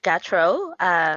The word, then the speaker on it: Gautreaux: It's Miss Gatro. My name is spelled Gautreaux.